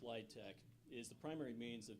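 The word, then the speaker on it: LIHTC: their communities thank you the low-income housing tax credit pronounced litech is the primary means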